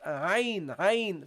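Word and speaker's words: ع: Okay, so you pronounce it ayn, from the middle of the throat.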